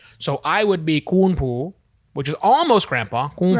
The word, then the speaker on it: ปู่: And the version for paternal grandfather in Thailand is poo. Ooh. Poo. Almost like a P, but you don't really hit the P really hard.